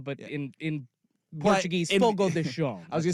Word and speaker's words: Fogo de Chão: It's spelled Fogo de Chão, but in But Portuguese, in- Fogo de Chão. I was gonna say in white, middle-aged American vernacular, that is Fogo de Chao.